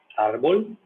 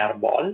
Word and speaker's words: árbol: de exemplo hã exemplo a clássico árbol né não é arbol se fosse arbol teria um acento né ou não não